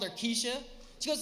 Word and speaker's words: Kesha: a big fan of cat one time I mispronounced Kesha's name to this girl she got all mad I called her Kesha she goes it's not Kesha it's Kesha it's